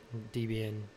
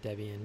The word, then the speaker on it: Debian: You can run Ubuntu in it if you want, Debian, or Debian, depending on how you pronounce it.